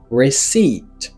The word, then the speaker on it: receipt: All right, c'est receipt. Receipt, ouais tu as déjà me dire receipt. La première syllabe là il y a un son et la deuxième syllabe là il y a un son i.